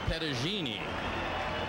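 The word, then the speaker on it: Petagine: his father was and they told me the pronunciation was pedagini and whatever it is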